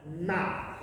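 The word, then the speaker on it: 妈: Now, if we take the sound, ma, okay, if we spell it in English, it'll be M-A. If we say it high up in the voice, it sounds like this. Ma.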